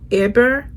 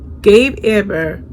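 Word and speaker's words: Hébert: his name is gabe eber edber if i can say it right h-e-b-e-r-t but you should pronounce it in the french way gabe eber his father is dead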